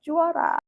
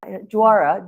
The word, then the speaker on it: JUARA: In Indonesia, Jara is pronounced Jara. Jara.